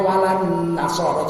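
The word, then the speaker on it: وَلَا النَّصَارَى: wala an-nasara. Cuman karena itu diwasolkan bacanya walan nasara, tapi tulisannya beda.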